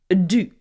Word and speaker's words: du: Well, take je, take avoir as the auxiliary, and the past participle of devoir in the past is du.